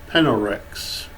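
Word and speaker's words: PNLRX: And the third one is Penelrex. And in case if you're wondering, Penelrex is spelled P-N-L-R-X.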